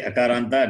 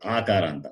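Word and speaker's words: अकारान्त: When I say akaranta, they will say akaranta.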